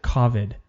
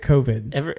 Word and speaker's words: COVID: a podcast today and i heard a guy pronounce it kavid what and i kind of wanted to slap him well it's that's the dumbest thing i've ever heard everyone calls it covid but like he was you know it's sort